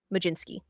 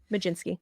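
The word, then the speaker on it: Mlodzinski: l o d z i NSK k i Majin Sky you're all there's an l and a D in there Susie I know Maj jinsky that's how it's pronounced Hunter Stratton Carmen Carmen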